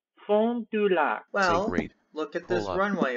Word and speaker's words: Fond du Lac: According to the NAS map, this city is called Fond du Lac, Wisconsin, or, actually this is kind of French, so pronounce it in a French way. Fond du Lac.